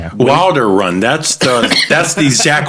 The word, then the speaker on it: Wilderun: So, well, we're really big on pronunciation here. So, Wilderun is it? That's how we like to say it. Yeah. Wilder Run.